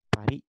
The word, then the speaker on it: Paris: Paris, dibacanya Paris ya. Jadi kalau orang Prancis, kalau akhirannya ada S, itu biasanya si S-nya itu nggak keluar tuh.